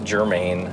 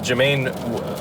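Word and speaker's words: Jemaine: That's not Jermaine. you That's how idiot. No, What? it's J-E-M. That's how it's spelled.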